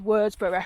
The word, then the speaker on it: Worsborough: Oh, so, this is Worsborough Village. That's how it's pronounced locally. It's, if you... An older me, you'd said Worsborough because you'd say it in full.